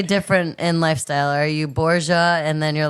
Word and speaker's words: Borga: It hits hard, but the pronunciation of your last name is actually Borgia, right? Borgia, yeah. Way back, it's Sicily, Italian.